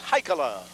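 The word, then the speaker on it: Heikkila: That's H-E-I-K-K-I-L-A, pronounced Haikala.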